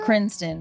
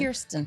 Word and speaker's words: Kirsten: Yeah, you said Kristen, so I just wanted to point out that you said, and I said it wrong. Peace to that woman. Peace to that woman. Kirsten.